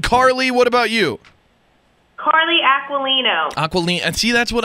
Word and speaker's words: Aquilino: you go and Carly what about you Carly Aquilino aquannia and see that's what I was putting